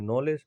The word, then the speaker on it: knowledge: तो नॉलेज में क्या होता है, हम लिखते तो हैं KNOWLEDGE, लेकिन पढ़ते हैं नॉलेज, ठीक है।